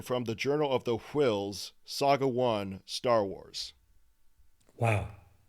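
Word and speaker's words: Whills: ever by the way i pronounced wills with an h because there's an h in wills wow yeah makes it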